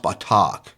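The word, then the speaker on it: בטח: That word trust in Hebrew, the Hebrew word that's translated to trust is pronounced batak.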